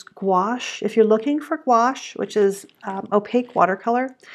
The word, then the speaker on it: gouache: you could use gouache if you're looking for quash which is opaque watercolor it's spelled G oh you a CAG and that